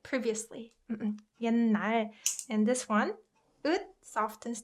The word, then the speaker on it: 옛날: 옛날. And this one, ut softens to n, so it's pronounced like 옛날, 옛날, right?